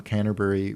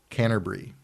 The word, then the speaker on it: Canterbury: So I wanted to ask him, and I heard English people pronouncing it Canterbury, like they dropped the bury.